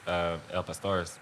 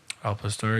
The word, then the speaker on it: al pastor: Actually, it's like one of the best El Pastores you can get. Is that how you say it? Al Pastor.